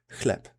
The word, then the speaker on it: chleb: This CH digraph is pronounced exactly like a normal H.